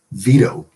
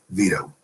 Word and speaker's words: Vito: It's because the T sound in the Italian name Vito, at least as it's pronounced in America, is considered part of the same foot. It has 2 syllables, V and toe, but they're part of the same foot, and therefore the T is flapped.